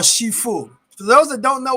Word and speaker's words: Sifu: Inspired by Jackie Americans say Sifu, but the actual name is Shifu.